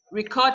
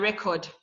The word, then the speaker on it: record: Like record and record. You see the pronunciations are different.